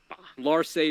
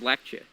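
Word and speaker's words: Larcei: If you look at it in Japanese, which I played because Fire Emblem 6 never came to the States. So her name is Fa. Larse is Lache. Lache.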